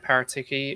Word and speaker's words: Paratici: know, especially when we got Paratici in, I think he said is how it's pronounced.